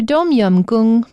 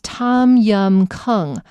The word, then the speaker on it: Tom Yum Goong: and be like, but it looks like it says Tom Yum Goong, and that is correct if you were pronouncing it according to the rules of English. However, I'm pronouncing it according to the rules of Thai, the Thai language, which I just looked